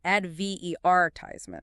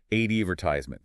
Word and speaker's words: advertisement: the emphasis Falls in a word like advertisement British English stresses the second syllable advetisement American English stresses the first advertisement same with laboratory laboratory